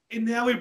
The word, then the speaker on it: Inoue: we're talking about the Inoue brother.